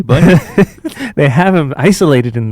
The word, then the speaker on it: Bunyan: And then bunion, Sounds like like that fucking thing on your toes.